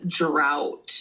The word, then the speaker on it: drought: So, this first one is drought. I think out. Drought. GH is silent.